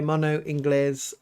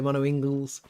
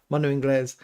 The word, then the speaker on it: Mono Inglés: And that's how you pronounce it, by the way, Mono Inglés. A lot of people say Mono Ingles. It's Inglés as in Spanish, English, Mono Inglés.